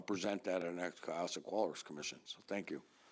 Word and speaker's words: Cohasset: And am I pronouncing it right? Cohasset? Cohasset, yes.